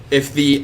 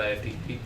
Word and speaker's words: IFTTT: It's pronounced IFT, not IFTTT.